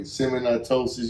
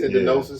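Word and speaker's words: semitendinosus: I still can't pronounce it the right way. Seminotosis, that little cord right behind it. Semitendinosis.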